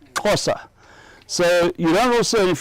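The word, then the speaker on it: Xhosa: So you don't also, if you look at it, the way it's spelled is X H O S A. You don't say, you says. The first two letter and the sound are combined. So it's cos and then the the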